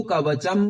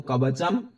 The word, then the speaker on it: कवचम्: कृत्वा तु कवचम पुरा, यहां पर कवच नहीं है, ऊपर से बिंदु है, तो कवचम पुरा।